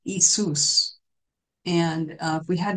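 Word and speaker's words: Iesous: in Greek uh if we translate it it's pronounced isus and uh if we had to translate that in English it would be i e s o u s but is pronounced isus in English would be yesus and over time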